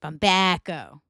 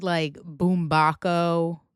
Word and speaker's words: Bumbaco: It's supposed to be the Sopranos, right? The Sopranos, soprano, right? But we say the Sopranos. Sopranos, Bumbaco. Get it?